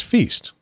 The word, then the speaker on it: Feest: And it's Feest, not Feist.